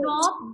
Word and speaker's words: knob: And in the word knob the silent letter is K.